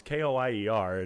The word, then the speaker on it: Koyer: But it's always, yeah, it's Coyer with a K because for some reason everyone always just assumes it's a C. But otherwise, it's spelt like it sounds, Koyer, and sometimes people struggle with it.